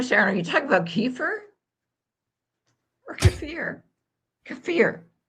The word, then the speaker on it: kefir: Are you talking about kefir or kefir? Kefir. Well, Jerry says emphasis on the second syllable too.